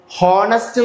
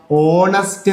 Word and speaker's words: honest: ഇവിടെ നോക്കുക, ഹോണസ്റ്റ് നല്ല ഉച്ചരിക്കുക, ഓണസ്റ്റ് എന്നാണ്. ഓണസ്റ്റ് ഉച്ചരിച്ചപ്പോൾ എന്താ വന്നത്?